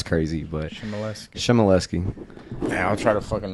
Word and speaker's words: Chmielewski: It's just, you get the general thing, don't pronounce the W, and it'll be good, you know what I mean? You read it, it's crazy, but Chmielewski.